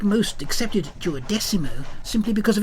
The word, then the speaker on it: Duodecimo: I recall his insistence that the name of the club be pronounced Tuo Decimo, which I found profoundly infuriating because he was, in essence, right about this issue.